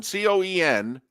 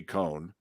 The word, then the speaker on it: Coen: interested in going back so Liam Cohen Coen pretty sure that's how you pronounce his last name all right could be con but he's a new